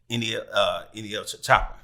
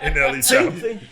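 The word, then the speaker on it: NLE Choppa: You know who did that with me, and because he recognized who I was, is NEL Chopper. NLE, right? I'm saying it right. NLE Chopper.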